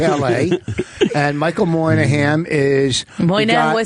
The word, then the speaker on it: Moynihan: Oh, Michael Moynihan is here.